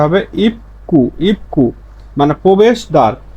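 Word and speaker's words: 입구: দেখি স্বাভাবিক উচ্চারণ হচ্ছে ইপগু, ইপগু, কিন্তু এর সঠিক উচ্চারণ হচ্ছে ইপকু, ইপকু।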